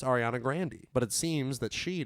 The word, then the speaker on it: Ariana Grande: same where he's it like with ariana grande its ariana grande II but it seems that